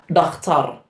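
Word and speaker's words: dhakhtar: The next we have the word for a doctor, which is just a Somali-ized version of the pronunciation, which is dakhtar.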